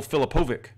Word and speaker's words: Filipovic: But I think his name is pronounced Michael Filipovic.